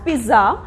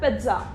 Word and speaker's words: pizza: Usually people pronounce it as pizza, but it is not pronounced as pizza, it is pronounced as pizza. We just have to focus very less on the word Z.